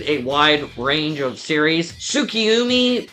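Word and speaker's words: Tsukiumi: Tsukiyumi, I believe that's how you pronounce it, is also from Sekirei.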